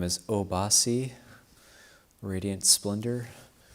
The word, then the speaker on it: Obhasi: Your name is Obhasi, Radiant Splendor. So that's a 3-syllable name, short, easy to remember, Obhasi.